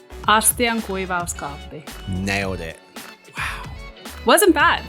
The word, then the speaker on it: astiankuivauskaappi: so just in case you're wondering how to pronounce it. Astiankuivuuskaappi. Astiankuivuuskaappi.